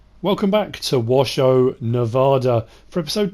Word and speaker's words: Washoe: second intro washo not washu it's written shoe but obviously it's pronounced show um so yes washo